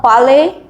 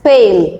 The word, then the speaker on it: pale: in shock okay now please do not mispronounce this word it is not palais it is pale p-a-l-e pale pale means